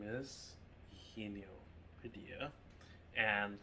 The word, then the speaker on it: Eugenio: My name is Eugenio Padilla, and you pronounce that with the E, and then the he as in him, ni as in knee, and then O.